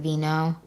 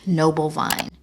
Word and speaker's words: Noble Vine: Veno. No, every single time I say this name wrong, it is Noble Vine.